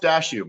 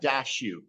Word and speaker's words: Daciw: the last name uh dashu dashu awesome man no dashu if it's any consolation so the last name is Ukrainian if it's any consolation